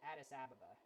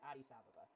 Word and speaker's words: Addis Ababa: sabha and that's yes that's how it's pronounced it's actually a pretty cool name when i was a kid i pronounced it i pronounced it addis ababa or addis ababa i think that's how i pronounce it but no it's adi sababa yeah we're coming in